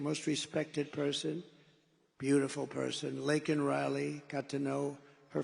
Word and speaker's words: Laken: And then he pronounced her name wrong. Remember he called her Lincoln. Remember that? In Congress, he called her Lincoln.